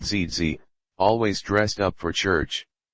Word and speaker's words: Gigi: My grandmother Gigi, pronounced ZZ, always dressed up for church.